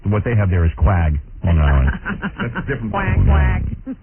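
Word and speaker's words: Quogue: You spell it Q-U-A-G? That's Miss Spelling. Yeah, these guys screw me up every day. It's Q-U-O-G-U-E, isn't it? Yeah, that would be Quag.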